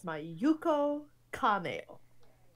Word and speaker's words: Mayuko Kameo: Oh, and they even have the pronunciation of her name in here. It's Mayuko Kameo.